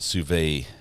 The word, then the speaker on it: sous vide: Pronounced sous vide, not sous vide. Okay. Yeah, I mispronounce everything, but John, thank you for correcting that.